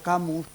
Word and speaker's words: Camus: ellos fue Alfredo Adolfo camus y lo pronuncio así en castellano porque aunque nacido en París de Padre francés de madre cordobesa en realidad pues fue español y vivió su vida en España este catedrático de literatura